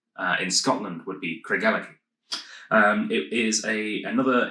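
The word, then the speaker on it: Craigellachie: the same same name as this that is pronounced here kragalaki um but of course uh in scotland would be craig ellick um it is a another 1890s uh distillery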